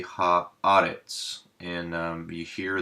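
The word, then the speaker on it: הָאָרֶץ: Haaretz, and you hear the shorter E for the sigol, kind of in pet, and we put the emphasis of the word here, so Haaretz is how we would say that.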